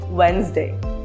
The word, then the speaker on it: Wednesday: Letter D is silent when it comes before N and G in a word. For example, Wednesday or pledge.